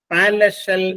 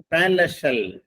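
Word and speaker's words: palatial: എ ടി ഐ എൽ അതിന്റെ ഉച്ചാരണം പാരല ഷെൽ എന്നാണ് പാരല ഷെൽ പി എൽ എ ടി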